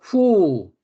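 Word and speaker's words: הוּא: 그래서 who, he 이렇게 발음을 합니다.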